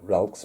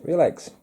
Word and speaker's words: Relx: smooth introducing new relax some people call it ralph's but it says in documentation it's pronounced real eggs um super smooth this